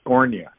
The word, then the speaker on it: Scornia: that knew harry and the pronunciation of his name was cornea okay anyway so he